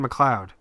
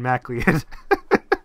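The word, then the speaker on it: McLeod: all I realized I was pronouncing this man's name wrong all along uh his last name is Kevin McLoud oh my Lord and I've been saying like Kevin mlead what is his name spound like m a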